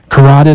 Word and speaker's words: carotid: in, but it makes total sense with the carotid artery. Is that how I'm pronouncing Carotid, it?